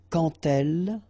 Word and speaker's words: quand: So like that, quand elle. All right, same rule here. Remember, when you will have this D, you will phonetically pronounce it like T. Quand elle, dans un, okay, in